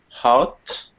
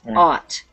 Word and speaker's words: ought: next um josue uh hot not hot there's no h it's just ott try not to put the h in there it's not hot it's odd out good yes ought and what does ought